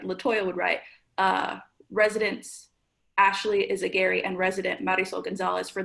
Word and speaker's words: Yzagguire: Charlie, close the parentheses and put Yzagguire. Did I say it right, Ashley? Yes, you did.